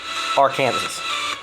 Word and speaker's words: Arkansas: In Arkansas, it is strictly prohibited to pronounce Arkansas incorrectly. Arkansas.